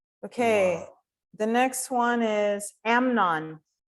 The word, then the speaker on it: Amnon: The next one is Amnon. Наступне Емнон, Амнон. Емнон. Наголос на першій букві. Емнон.